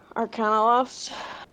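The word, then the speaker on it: Arcanaloth: Arcanoloth. We'll talk about the Arcanoloth too. Moth. I can't. Oh, moth rhymes with loth.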